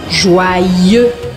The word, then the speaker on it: Joyeux: Essa palavra se escreve com Y. E o Y eu considero como se fossem dois Is. Então o primeiro I vai fazer o som wa, joa. E o segundo I eu vou pronunciar.